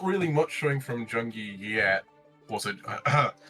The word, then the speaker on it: JUNGIEP: Not really much showing from Jungie yet. Also, the P is silent.